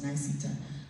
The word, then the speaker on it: Niceta: Some folks believe, I think it's easy to say, it's 3 syllables, Niceta.